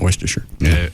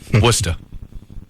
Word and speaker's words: Worcester: at then Christian talk WCRN am Worchester I know I know I know it's not Worester Worcester that's how they say it Worcester Worcester Mass yes